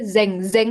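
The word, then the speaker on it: 全然: Pengucapannya itu pakai apa? Pengucapannya pakai G enggak belakangnya Zeng. Zeng gitu apa zen. Zen pakai G. Zeng Zeng. Bukan G-nya enggak terlalu terlihat tapi samar ya. Jadi samar aja zengzeng.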